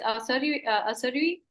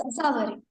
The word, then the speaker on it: Asawari: Yes, Asari, am I pronouncing your name right? Yes, ma'am. It's Asawari. Asavari.